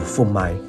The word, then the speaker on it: phô mai: 越文的说法就是富麦。